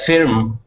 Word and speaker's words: firm: Okay, so Mohammed, forget about that I being there. We don't want to pronounce that I. We want to make an sound. So we're going to say firm.